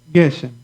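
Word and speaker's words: גשם: So the force is at the beginning of this first Geshem, Geshem, okay?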